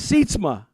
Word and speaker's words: Sietsma: It's Sietsma. Yes. Oh, you nailed it. Autofluencer. You got that one wrong. So Autofluencer, but Sietsma.